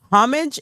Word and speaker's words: homage: Homage is homage. Homage is not a word. The H is silent in English.